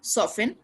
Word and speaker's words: soften: fast and you see not faster okay okay soften soften the butter any butter with soft curl